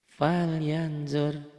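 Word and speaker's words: فلينظر: Falyanzur ya. Ditulisnya ada n-nya, dibacanya tambah eng gitu doang ya.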